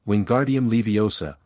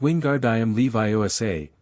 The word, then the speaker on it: Wingardium Leviosa: Harry heard his muttered "Wingardium Leviosa" becoming more aggressive with each failure. "You're saying it wrong," Hermione told him. "It's Wingardium Leviosa. Make the gar nice and long."